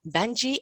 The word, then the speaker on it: Banjii: two wonderful guests for you today they are banji and mayuri have i said it right or